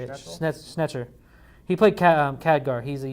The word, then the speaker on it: Schnetzer: Schnetzer.